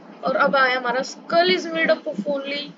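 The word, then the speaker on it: humerus: shoulder यह रहा देखो हमेरस कहते हैं और उसकी अच्छी प्रोनाउंस है हमरस गई थी उसके बाद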